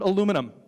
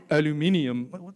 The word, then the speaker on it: aluminium: I mean, just with Andy alone, I've argued about cricket versus football, America versus England, and how to pronounce the word aluminum. Aluminium.